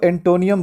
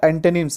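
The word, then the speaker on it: antonym: देखो बहुत सारे बच्चे इसको एंटोनियम बोलते हैं, एंटोनियम, तो एंटोनियम वगैरह सब नहीं बोलना है, ठीक है, ये सब गलत उच्चारण है। सही क्या है? एंटोनिम्स है।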